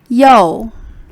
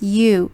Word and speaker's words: 右: one third tone meaning left and last one yo so the ou sound make o o in chinese so please do not mix mistake and pronounce as you in english this one is yo yo you